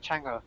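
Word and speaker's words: Chang'e: Chang, her name is Chang, it's Chinese, so I pronounce it Chang.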